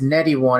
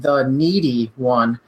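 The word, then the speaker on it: TheNeedyOne: It's actually pronounced The Needy One. And the reason it's needy is because it rhymes with what people called me on the basketball court growing up, which was greedy.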